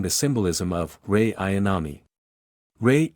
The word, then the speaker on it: Rei: Rei equals Ray Chandler. Same pronunciation.